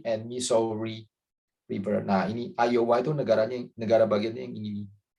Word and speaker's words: Iowa: Iowa bacanya ya.